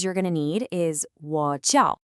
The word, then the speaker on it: 我叫: Okay, the key phrase you're going to need is 我叫. It's pronounced kind of like wo jiao. Try saying just that part. 我叫.